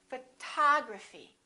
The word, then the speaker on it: photography: how about this one we stress the second syllable we say photography this o also is